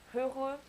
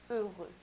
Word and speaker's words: heureux: And if it starts with an H, you don't really say heureux, you say heureux.